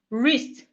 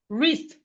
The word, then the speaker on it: wrist: We have wrist. Wrist. Wrist. The W in wrist is silent.